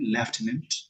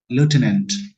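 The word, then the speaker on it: lieutenant: Delhi लेफ्टिनेंट, इसको ना British English में बोलते हैं लेफ्टिनेंट, बट अमेरिकन इंग्लिश में बोलते हैं इसको लेफ्टिनेंट।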